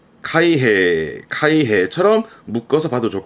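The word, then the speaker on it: 開閉: 그럼 발음은 카이헤, 카이헤처럼 묶어서 봐도 좋을 것 같아요.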